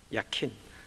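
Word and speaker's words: 야킨: 소리는 확인할 수 있겠습니다 약인 히브리 발음 그대로 한다면 야키 입니다 야 킨 설리 받아 세우다 따라서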